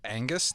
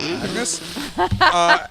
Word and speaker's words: Angus: Because the name is spelled Angus, which is Angus, not Agnes.